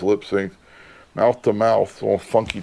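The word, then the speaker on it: Lipps Inc: got the bpms listed it's lip sync lips Inc but they it was supposed to be pronounced lipy sync mouth to mouth little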